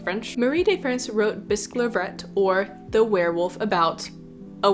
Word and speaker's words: Bisclavret: I'm going to pronounce it Bisclavret because the way the poem rhymes implies that's the pronunciation, but I could be totally wrong.